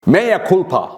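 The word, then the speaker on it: mea culpa: Maya culpa this is the new word it's spelled as mea c-u-l-p-a does the new word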